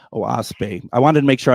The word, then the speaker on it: Oahspe: It's spelled OAHSPE, and it's pronounced OASPE. OASPE.